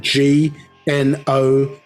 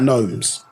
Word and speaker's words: gnome: same word isn't it if you spell gnome and you were to say I suppose phonetically you say G no yeah but that's gnome as in um as